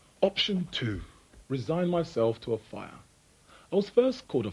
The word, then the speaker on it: Offiah: my name's an and I think it should be a fire Martin a fire a fire it should be Martin off off a fire a fire should I insist that everyone pronounces my name properly or play along and be known for the rest of my life as Great Balls of Fire offia or a fire option one or option